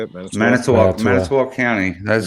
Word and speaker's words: Manitowoc: Manitowoc County. That's correct. Manitowoc County.